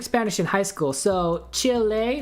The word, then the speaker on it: Chile: in high school so Chile right because the E is pronounced like an a that's how I say